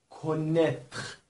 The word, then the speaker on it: connaître: دقیق بفرمایید، connaître ببینید ا و ای به صورت ا تلفظ میشه، connaître، و چون ار به دنبال حرف ت هست به صورت خ باید تلفظ میشه، connaître به معنی شناختن.